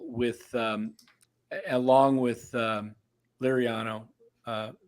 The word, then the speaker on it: Liriano: um along with um Liriano uh am I saying it right is it was it lariano lariano yeah I learned the the